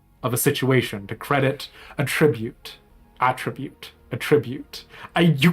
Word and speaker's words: attribute: buy the $500 Ari skin Riot released today a tribute pronounced with the accent on the first syllable is